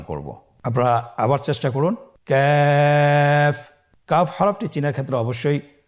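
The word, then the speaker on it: ك: তৃতীয় নম্বর হরফটির নাম হলো ক্যাফ। তৃতীয় নম্বর হরফটির নাম ক্যাফ। কাফ উচ্চারণের ক্ষেত্রে অবশ্যই পাতলা করে উচ্চারণ করতে হবে এবং 3 আলিফ টেনে পড়তে হবে।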